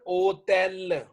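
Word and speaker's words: hôtel: अब इंग्लिश वाला तो इसको बोलेगा होटल, फ्रेंच वाला जो इसकी प्रोनाउंसिएशन है ओटेल, ओटेल, ते से जी।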